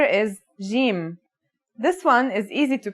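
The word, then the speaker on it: ج: the word jam, while in Egyptian Arabic, it sounds like the G in the word game. They're both quite easy to pronounce, though. Now, let's handwrite the isolated form. Jim, here are the initial, medial, and final versions of Jim.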